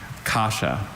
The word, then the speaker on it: kasha: Kasha, may I please have all the information? Sure. Kasha is the only pronunciation I have.